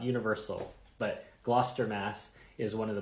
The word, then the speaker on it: Gloucester: They're from Gloucester, Massachusetts, which to Americans looks like Gloucester, but is one of the few times that we pronounce it the way that the British would.